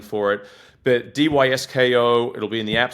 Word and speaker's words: Dysko: It's DYSKO. It's spelled DYSKO.